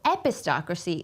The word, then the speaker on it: epistocracy: they will let us know about how to pronounce apocracy epistocracy epistocracy epistocracy okay so epistocracy is a real word and it is pronounced